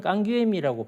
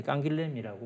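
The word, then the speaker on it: Canguilhem: 남부 지방에 거기 이제 출생인데, 그러니까 그쪽 지방에서는 깡귀엠이라고 발음을 한다고 그래요.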